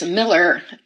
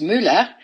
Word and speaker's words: Mueller: to share with you all I got this Miller toaster which appropriately should be pronounced Mula toaster and I got it because I really